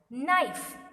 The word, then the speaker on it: knife: Knife. So K is the silent word.